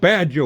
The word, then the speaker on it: Baja: So, no, it's called Baja, William. Yeah, gummit. Baja. Baja. J is pronounced with an H.